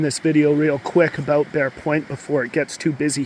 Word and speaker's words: Bere Point: in the distance around that bend there is Bear Point and in Finnish it's called Palus Nimi which means bear point, but uh it's spelled different word.